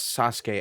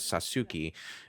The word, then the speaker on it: Sasuke: a post Naruto world you have no excuse to to mispronounce Sasuke as sasuki but some people will